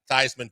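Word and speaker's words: Theismann: the Heisman and so Notre Dame and Joe Thman made it Thyman for the Heisman.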